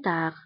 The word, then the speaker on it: tard: Je vous appellerai plus tard. Je vous appellerai plus tard. Je vous appellerai plus tard.